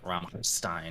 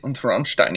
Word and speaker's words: Rammstein: I don't think you have enough phlegm in the pronunciation. It's supposed to be like Rammstein or something.